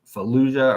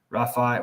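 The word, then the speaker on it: Rafah: they call it now they're going straight into fuah or not fuia but Rafa whatever shoot I shouldn't say it like that I know the name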